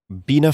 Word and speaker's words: Bina: Bina 48. Who or what is Bina 48, if I'm pronouncing that correctly?